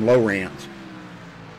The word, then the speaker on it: Lowrance: And yes, that's how you say his name, Lowrance.